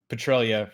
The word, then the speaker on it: Petralia: It's not Petralia. Petralia or anything like that. It's Petralia rhymes with Australia.